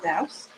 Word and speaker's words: douce: Now the other thing we're going to add to the apples is something that's called powder, I think it's pronounced douce, D-O-U-C-E.